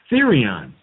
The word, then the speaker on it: therion: And it's pronounced Therion.